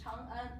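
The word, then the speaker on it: 长安: And also, one, it might cause, one is a little ambiguous here. You have to add this to separate these two syllables. Because if you see this, you can read it as Chang'an, right? So to show everyone it's Chang'an, just separate them.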